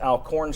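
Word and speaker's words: Alcorn: Florida Mississippi State routes alorn state or alorn state if you want to pronounce it correctly uh Missouri defeated Toledo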